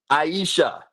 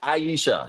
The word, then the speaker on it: Aisha: Aisha? Means life. I like that. Yep. Are you talking to me? I e Okay, I I e Aisha. I got you. Aisha.